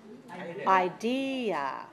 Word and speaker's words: idea: second or third syllable three syllables stress the second idea e e e that's